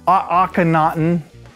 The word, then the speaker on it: Akhenaten: How do you pronounce Akhenaten? Akhenaten. Akhenaten. Oh, it's not hard. Akhenaten.